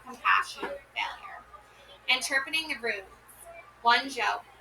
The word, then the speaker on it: Wunjo: Wunjo, Wunyo. Okay, here we go. Pronounce Wunyo.